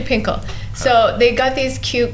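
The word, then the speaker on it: Fin.K.L: It's really funny because they don't even pronounce F and then they call it Finkle, but Pinkle. Yes, so it's actually Pinkle.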